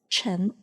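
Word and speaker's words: 陈: And the character Chen follows the second tone, so it is pronounced as Chi, N, Chen.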